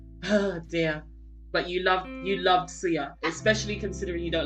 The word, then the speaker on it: Suya: Soya. It's not soya. Soya milk. Soya is for milk. Suya. Suya. Suya.